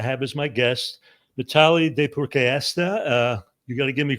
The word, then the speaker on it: Deypurkaystha: And today I'm absolutely delighted to have as my guest Mitali Deypurkaystha. You got to give me credit for getting that last name pronounced right.